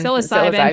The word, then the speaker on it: psilocybin: I mean, whether or not I end up trying, psilocybin, am I saying it right? It's always one of those words when I Psilocybin.